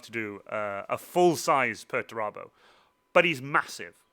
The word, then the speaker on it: Perturabo: Well, you mentioned before that we don't see any Puerto is that the correct way to say it? Perturabo, yeah.